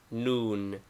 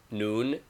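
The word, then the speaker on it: ن: as in english name noon equivalent n pronunciation as in english before b or f it is sounded as m name wow equivalent w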